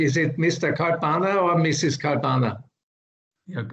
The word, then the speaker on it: Kalpana: Kalpana? Yeah, it's Kalpana, Professor, it's not Kalpana, it's in Indian Hindi language, it's Kalpana.